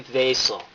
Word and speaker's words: Wiesel: It's a V? Yeah. Miss Wayman. Ellie Vasel. Guy. It's a guy. Nice. Thanks, Mrs. Wayman29, for the correct pronunciation. Very good. I know that in Old Hebrew the W's turned into V's.